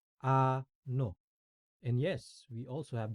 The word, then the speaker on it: Ano: what what the equivalent word for what is Ano an no and Yes We also